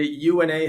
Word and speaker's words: UNA: I always say UNA rhymes with tuna because some people say UNA Health, which is okay. But it was really UNA is how we pronounce it.